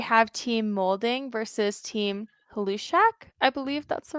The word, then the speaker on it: Halushak: Then on Team C, we have Team Molding versus Team Halushak. I believe that's the right pronunciation. I believe they want to say Lushak. Lushak? The H Okay. is Lushak. The H is silent.